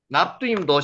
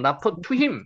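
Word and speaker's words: Naphtuhim: 납두임도 실제로는 나프투임이라고 있습니다. 읽으실 수 있겠죠? 나프퍼 읽으시죠. 여기 우바음 나프투힘 나프투힘입니다.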